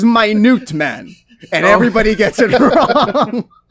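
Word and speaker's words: Minuteman: there's this character um the way his name is spelled is m-i-n-u-t-e-m-a-n so you read it and you see minute man right until you realize he has the power to shrink and his name is my newt man and everybody gets it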